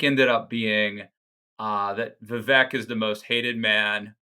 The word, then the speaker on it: Vivek: vet or I'm sorry Vivek it's like cake the fake let's think uh the